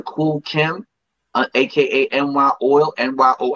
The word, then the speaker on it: NYOIL: Find me on Facebook under Kool Kim, aka NY Oil, NYOIL. NY Oil. That's That's how you it.